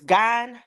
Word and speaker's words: Gein: Yeah, it's pronounced GEIN.